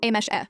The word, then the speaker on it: Amis: It's pronounced as Amesh-e, so my name is just 3 sounds and completely pronounceable for an English speaker, and I assume for basically the entire world.